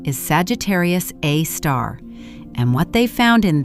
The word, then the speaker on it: Sagittarius A*: Sagittarius A star, we call it SG A star, pronounced Sagittarius A star, sits exactly 26,000 lightyears from Earth.